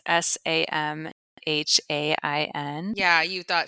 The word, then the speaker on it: Samhain: say this for a long time because it's Samhain. Yeah, you thought Samhain. You're like, Yeah. what is this? Very, very American of me, right? Yeah, salmon.